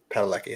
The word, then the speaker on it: Padalecki: Padalecki? Padalecki, that's how you say it.